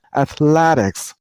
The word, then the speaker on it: athletics: at lad x and remember while you pronounce the word use stress on the middle syllable I mean on lad